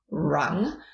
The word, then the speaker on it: Ram: So R-U-N-G, as in rung, but it's pronounced with a little bit of a roll, so rung.